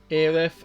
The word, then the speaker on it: Aerith: Aerith, or as we had over here in America, two different ways you could say her name, Aerith and Aeris. Fell right into my flower bed. Both names are fine.